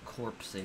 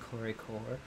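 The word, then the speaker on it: corps-à-corps: uh for everyone watching we have corp say corpse or it's really supposed to probably be pronounced corey core because i'm pretty sure that's french and so that is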